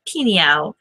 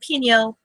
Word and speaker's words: Pinhão: I'm in Meow, kind of like meow, but I'm in Pinhão, spelled peach, A-O. Anyway, Pinhão, Portugal.